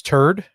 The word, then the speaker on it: TRD: The next one is TRD, which a lot of people pronounce turd.